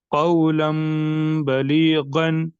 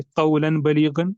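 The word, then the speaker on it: قولا بليغا: इसके हिज्जे इस तरह होंगे कौफ वाव जबर कौ लाम दो जबर लन कौलन बा जबर बा कौलम बा लाम या जेर ली कौलम बली गैन दो जबर गन कौलम बलीगन।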